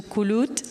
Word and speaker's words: Kulut: So now I'll give the floor to Kulut. Did I pronounce this properly? this is the most accurate pronunciation.